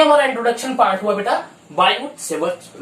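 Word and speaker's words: Biot–Savart: इसको एक और टर्म से जानते हैं बेटा बायोट-सेवर्ट law, where T is silent, so बायोट-सेवर्ट law book में होता है, लेकिन लिखा होता है बेटा बायोट-सेवर्ट लॉ।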